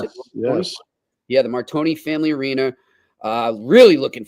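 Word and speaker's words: Martire: Sacred Heart from what's it the Marton family Marton is that how you pronounce it yes yeah the Marton Family Arena uh really looking forward to seeing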